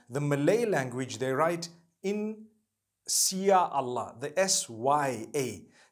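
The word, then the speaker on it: Insya Allah: If you look at, you know, the Malay language, they write in Sia Allah, the S-Y-A. They pronounce the S-Y the way we pronounce S-H.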